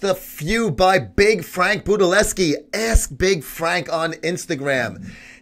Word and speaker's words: Budelewski: We want to welcome right now to Muscle Sport TV, Big Frank, also known as Frank Budelewski. Did I say it right? Budelewski, yes, sir.